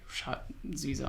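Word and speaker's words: Schott Zwiesel: No, I actually don't know the brand of this, but the it's Shot Zwiesel.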